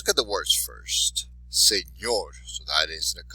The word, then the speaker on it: señor: So, once again, for señor, you have señor, last syllable, so that's where your stress would be.